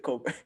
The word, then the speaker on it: Colbert: That's how you pronounce it, Colbert. Is it Colbert? Yeah, I don't listen. You know, white people. That is it a silent E-R-T at there?